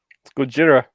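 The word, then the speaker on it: Gojira: did you know that in Japanese it isn't necessarily Godzilla because the Japanese word for God and power are the same word go J Lera how do you spell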